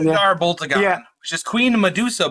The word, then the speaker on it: Blackagar Boltagon: Blackagar Boltagon. Blackagar Boltagon.